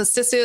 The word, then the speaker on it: sisu: You use a word in one of your book titles, sisu. I'm not sure if I'm pronouncing that correctly. Perfect. Uh tell us about that word. Yeah, so sisu is such an important Finnish concept.